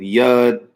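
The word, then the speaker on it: יוד: The 10th Aleph Beit character is the Yod. Some pronounce it Yud, Yad, Yad.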